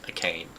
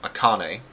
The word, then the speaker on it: Akane: finally worked out like I used to pronounce a name a a cane I think it was a cane but Akane you are playing as